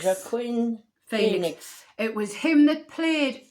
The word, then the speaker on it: Joaquin Phoenix: Can you pronounce his name, Janet? It's Joaquin Phoenix. Joaquin Phoenix.